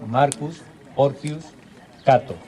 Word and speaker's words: Marcus Porcius Cato: Catón también, hemos hablado de familias agrícolas, pues Catón, el viejo Catón, se llamaba Marco Porcio Catón, o más pronunciado en latín, Marcus Porcius Cato.